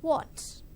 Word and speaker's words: what: not the correct pronunciation you have to circle your lips what okay yes good next let's